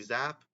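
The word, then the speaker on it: Zappe: um bayy zap well Bailey zap that was how he pronounced his name okay I thought it was Zippy but it was zap um completed 69 of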